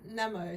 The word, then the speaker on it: namo: ong okay and then namo so it's a kind of short n a and then a bit of a longer mo nemo is like